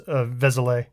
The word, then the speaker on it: Vézelay: So I think, I don't know how to pronounce Vizele. That one is, I think it's just as it sounds, Vézelay.